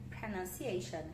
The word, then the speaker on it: pronunciation: Então, aí como a gente fala essa palavra, pronunciation, sendo no início apesar de ser escrito com a letra O, né? Então aqui a gente não está falando de letra, a gente está falando de som. E no final também tem um schwazinho aqui, né? Que fala shan.